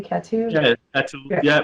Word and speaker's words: Catou: Catou? yeah. That's yeah.